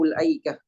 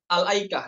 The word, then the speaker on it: الأيكة: وأصحاب الأيكة نبدأ بهمزة مفتوحة لتمكن من النطق باللام الساكنة الأيكة.